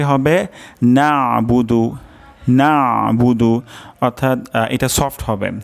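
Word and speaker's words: نَعْبُدُ: আমরা আগেও শিখেছি যে আইনের উচ্চারণ গলার মাঝখান থেকে হয় তো এখানে উচ্চারণটি হবে নাবুদু তো অধিকাংশ ক্ষেত্রে এটার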